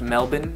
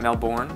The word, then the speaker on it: Melbourne: honestly you're not enough it's pronounced Melbourne not male born then back up to